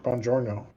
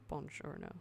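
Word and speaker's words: buongiorno: about on beyond Jordan Bongiorno Bongiorno that's a soft G yep isn't that a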